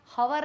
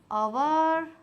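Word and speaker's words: hour: So they have been waiting for dash are इसको बोलते हैं हवर नहीं बोलते हैं। हॉनेस्ट जैसे अगर हॉनेस्ट जैसे एन अ हवर पढ़ा ह पढ़ा साउंड आ गया ह का। ठीक है? हवर हवर पढ़ते साथ मैं लगा दी ए और लगाते साथ हो गया यह गलत ठीक तो हवर को मैं पढ़ती हूं एच गायब आवर आवर फिर होगा एन और यह होगा सही ठीक है वी हैव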